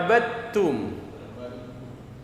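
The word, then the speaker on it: عَبَدتُّمْ: Jadi abadtum dibacanya abadtum. Dalnya hilang. Abadtum.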